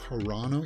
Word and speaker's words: Carano: against Disney James don't you know that it's pronounced corano yes I know I know but don't worry